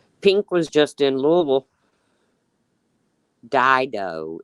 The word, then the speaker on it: Dido: Dido is how you pronounce it.